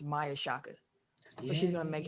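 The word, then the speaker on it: Maia Chaka: to officiate nfl game i believe her name is pronounced maya shakka so she's going to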